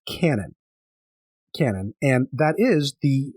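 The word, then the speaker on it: Kwannon: say excuse for anything this is well it's pronounced Canon Canon and that is the the character that we've all been calling Quan in the regular Universe in the regular gy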